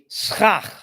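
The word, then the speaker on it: סכך: It's the schach.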